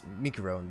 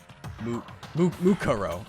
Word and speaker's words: Mukuro: We thought Mukuro, the ultimate Mikuro, the ultimate. I still can't pronounce her name right. I'm sorry. Like cousin. Mikuro. Okay, my bad. Mukuro.